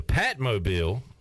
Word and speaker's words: Patmobile: 28 minutes ago, Patrick Mason tweeted, "The Patmobile," it's a cool name, right? Rhymes with Batmobile. Yep. Rhymes with bat.